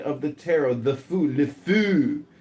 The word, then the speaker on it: le fou: Le fou. It's how you say it in French.